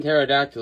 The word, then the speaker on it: pterodactyl: The P and pterodactyl is silent, but if you hire a guy without a mouth to read your mail, every letter is silent.